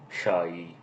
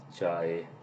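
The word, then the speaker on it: چاي: Shai, chai. The first letter is pronounced like the CH in the church.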